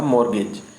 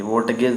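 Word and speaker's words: mortgage: ये आपका है मोरगेज, मोरगेज, मोर्टगेज लोग पढ़ते हैं, बंधक गिरवी, मोर्टगेज नहीं होता, मोरगेज होता है, मोरगेज।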